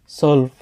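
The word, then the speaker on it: zwölf: জেক্স জিভেন আত নয়েন জেন সেন সলফ সলফ এগুলা জেডের উচ্চারণগুলা যে এর মত হয় না স এর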